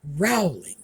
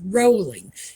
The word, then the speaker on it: Rowling: or as they said Rowling no it's rolling it rhymes with bowling not growling so it's rolling and